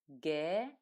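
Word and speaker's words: г: what good looks like letter gay sound good like the first sound in the word go in English and here is how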